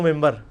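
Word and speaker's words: منبر: ہوئی ہے، محراب و ممبر. ممبر کے سپیلنگ کیا ہے؟ من بر، لیکن پڑھا کیا جاتا ہے؟ کیوں؟ کیونکہ نون کے بعد، نون ساکن کے بعد بار ہے.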